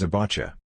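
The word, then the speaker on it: זֶבַח: In Hebrew, offering is pronounced zabacha.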